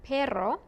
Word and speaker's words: perro: If it begins the word, as in rosa, or if it's two double R's in the word, como perro, then you roll your R.